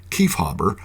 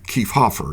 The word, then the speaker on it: Kiefhaber: a b R well Germans always pronounce the IE phon like an English long e so we can confidently conclude that the name was intended to be pronounced as ke hobber or ke Hofer in the north at